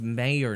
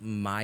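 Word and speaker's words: Mayer: how people pronounce it it's mayor not Meer it's Oscar Meyer wiers if you Google the freaking 1930s jingle it's Oscar Meyer wieners yeah but it looks like mayor I don't care what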